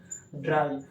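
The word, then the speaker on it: drei: जैसे इसको हम बोलते हैं इंडिया में थ्री बट जर्मन के लोग इसको बोलते हैं ड्राई। क्या बोलते हैं? ड्राई।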